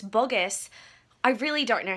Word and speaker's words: Boggess: I'm sure it's not Burgess. Could you imagine if it was? Burger right now. Holy moly, look at these bags. I'm so tired. Just got home from Sierra Boggess, learned how to say it.